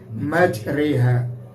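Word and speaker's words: majraha: Ada ro yang di fathah tapi ternyata bacanya lain. Bismillahi majriha.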